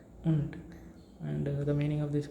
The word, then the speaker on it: und: UNT. Then its pronunciation becomes UNT. Und.